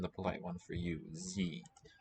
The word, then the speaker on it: Sie: Sie. Spelled S, but at the beginning of a syllable, it's going to be a Z sound wherever possible.